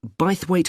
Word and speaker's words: Bythwaite: free and the show is being held in bythwaite hall sorry how'd you spell that b y t h w a i t e by the wait is it easy to find i'm not very